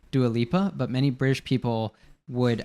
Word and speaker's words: Dua Lipa: They say Dua Lipa. So that you have like the D turning into like a J sound, Dua. And then what's it called? Like the R sound at the end of Lipa.